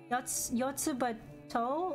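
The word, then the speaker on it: Yotsuba&!: Yotsuba To is how it's pronounced.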